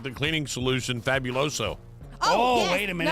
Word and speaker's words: Fabuloso: And if you get the multi-purpose one, Not fabuloso. fabuloso. There's no you in that.